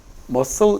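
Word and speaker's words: muscle: 자, 그다음에 머슬 이건 압니까? 크. C 발음 없습니다. 그냥 머슬입니다.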